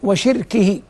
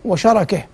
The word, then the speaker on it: شَرَكِه: هذا على أن الحديث يكون رفضه وشركه بفتح الشاء والراء. وبعض الرواة يقول وشركه، والشرك معروف، والشيطان من أعظم الكفرة بالله بلا ريب، لكن حمله على شركه أو لا، لأن الله عز وجل سماه عدوا، والعدو إنما يحتال على من يعاديهم. فالحديث الأفضل وشركه، هكذا تقرأ أو تلفظ.